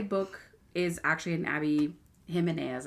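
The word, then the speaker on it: Jimenez: is actually an Abby himas I think it's how you say it but it's spelled j i m e n e z I've read two other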